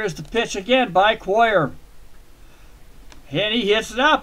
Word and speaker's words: Cuellar: I call it Cuellar, not Cuellar. I always pronounce it Coy. Have been all my life.